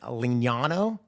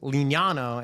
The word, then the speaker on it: Lignano: Italian translator, it was Lignano, and he spelt it out. But in Italian, if you know it, I's are pronounced like E, and E is I-E.